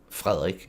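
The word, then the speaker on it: Frederik: line her son uh Frederick or frerick as we would say his name in Denmark and he is going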